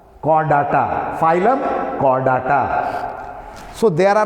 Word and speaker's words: Chordata: Don't pronounce it Chordata. Chordata.